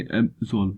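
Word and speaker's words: absolve: इसका जो प्रोनाउंसिएशन आप करेंगे एब्सोल्व, यहाँ पे आपकी लो पिच और यहाँ पे आपकी हाई पिच।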